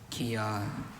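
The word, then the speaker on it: kyah: Kia.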